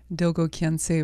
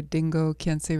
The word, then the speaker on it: Dilgo Khyentse: Dilgo Khyentse Rinpoche, or Dingo Khyentse Rinpoche, depending on how you pronounce his name, what dialect you're speaking in.